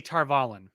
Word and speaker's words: Tar Valon: uh tar uh tar how do they pronounce it tar volley they say tar valon they say in the audio books they say tarvalen uh and so we